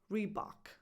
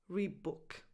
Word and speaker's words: Reebok: I'm going to tell you about the English pronunciation which is rebok the most common pronunciation is rebok it's definitely not rebook rebok and finally number 12 bbery okay so